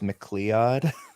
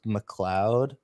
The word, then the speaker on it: McLeod: out many times and i've always pronounced it as mcleod i i i it wasn't until this movie that i'm like oh it's just mcleod okay um but you know